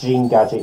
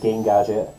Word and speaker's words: Gene Gadget: it - also yes it is pronounced gene gadget not game gadget I know this is